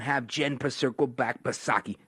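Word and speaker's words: Psaki: jen purcerco back but saki silent p of course it'll just be sleepy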